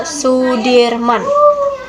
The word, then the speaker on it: Soedirman: Indonesia Hai Jenderal Sudirman menurut ejaan soewandi dibaca Sudirman Ia merupakan salah satu